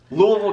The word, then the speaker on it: Louisville: that it would give me any better than Louisville Kentucky is the right way you say it